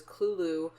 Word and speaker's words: Cthulhu: Apparently, this says that apparently in a letter Lovecraft said it was unpronouncable, but the closest you can do is Clulu with a bit of a gargle in the middle.